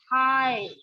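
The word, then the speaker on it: high: अब जहां पर जी और एच दोनों साइलेंट है, जैसे हाई, है ना, हाई में जी और एच दोनों साइलेंट है।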